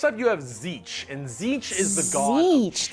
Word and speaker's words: Tzeentch: Next up, you have Tzeentch, and Tzeentch is the god of Tzeentch, that's how you pronounce However, it.